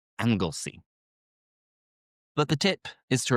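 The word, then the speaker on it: Anglesey: angle C which if you look at the spelling you would think it's angle say perhaps but it's angle C but the tip is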